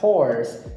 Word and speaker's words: hoarse: Por exemplo, a palavra horse, de cavalo, tem a mesma pronúncia da palavra horse, de rouco.